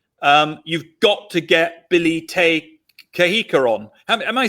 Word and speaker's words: Te Kahika: our program saying, you've got to get Billy Te Kahika on. Am I saying that name correctly? Because I always do it wrong. How do you say it? Not bad. The pronunciation is Te Kahika, and you're doing very well, John.